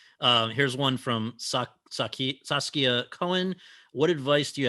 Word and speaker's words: Saskia: to interrupt to say my name is pronounced saskia sauce like tomato sauce kia like the car um i'm used to